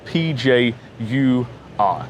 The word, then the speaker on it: Pjur: It's spelt P-J-U-R for Pjur It's a black bottle with a bit of yellow on the cover.